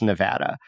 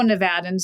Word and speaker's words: Nevada: as wrong okay okay are there preferences by different speaker groups yes and so uh sort of Anglo nevadans might be more um destined to say Nevada than someone who has a Spanish background who would say it more with the Spanish vowel system but when you think